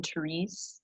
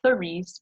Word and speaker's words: Therese: on Instagram, and then Megan Therese, not Therese, but I could understand why you pronounce it that way.